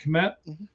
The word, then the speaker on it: Kmet: So he's essentially a third tight end with the Bears because they already have Loveland and Kmet, right? Is that how you say it, Kmet?